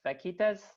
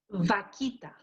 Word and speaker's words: vaquita: So we have Joyce who asks, is the fishing ban still in effect for taking, I think this is a fish, vaquitas, and she's a member of the Arizona Sonora Desert Museum, and they have staff involved to work to preserve that species.